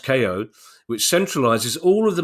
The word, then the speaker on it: Kayo: But Kayo Sports, pronounced KO, which centralises all of the main pay TV sports channels onto one subscription for the price of $25 per month.